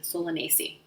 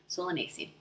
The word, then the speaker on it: Solanaceae: The Latin name is Solanaceae. Solanaceae. I had to spell that out for myself because it looks different than it sounds. Solanaceae.